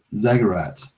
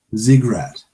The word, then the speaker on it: Ziggurat: Zaggarat. I'm not pronouncing that. How do you pronounce it? Whatever that is, I have no idea. It's here it is. 1 second. Let me. Ziggurat is how it's pronounced.